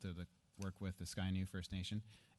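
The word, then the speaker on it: Scia'new: that the and I forgive me I cannot pronounce that word Sydney Shana Shanna Shanna suena sorry sky new sky new okay thank you the sky new nation confirms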